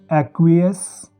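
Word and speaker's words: aqueous: जिन शब्दों में सी क्यू आता है तो उनमें सी साइलेंट हो जाता है और क्यू की आवाज़ आती है दोस्तों। जैसे अक्वेंटेंस, एक्वियस और अक्विट।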